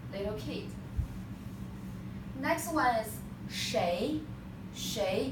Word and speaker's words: 谁: Next one is 谁. In colloquial Chinese we pronounce 谁, but when you are reading a book, they will say this one pronounced 谁. But in our book, you just memorize this 谁.